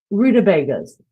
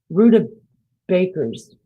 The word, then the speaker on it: rutabaga: Rutabagas. Rutabakers. No, I call them rutabagas. Did I say it right? That's how it's pronounced. Rutabaga.